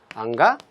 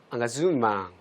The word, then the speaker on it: engagement: 앙가주망. 발음 한번 따라해 보실까요? 앙가주망.